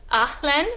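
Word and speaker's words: haleine: And so breath, in French, I believe it is Ahlen, but it is spelled H-A-L-E-I-N-E.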